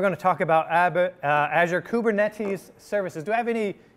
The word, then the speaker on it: Kubernetes: just gonna have to go with the english pronunciation which is kubernetes right uh or k8 right uh because there's